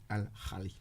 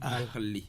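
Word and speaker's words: الأهلي: Vous savez comment vous avez prononcé? Vous avez dit Al-Ahli. Et vous avez tellement bien prononcé ça. Ah oui. Non, vous avez bien prononcé. Parce que vous tenez. Je tiens à cela. Il ne faut pas passer à côté de ce beau nom. Vous avez bien dit Al-Ahli.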